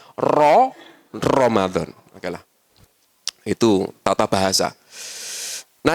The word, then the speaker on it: Ramadan: Yang a tidak ada ra kan ya. Adanya ro ya, Pak ya. Bacanya pasti rata-rata Ramadan. Ramadan. Ramadan padahal Ro Ramadan.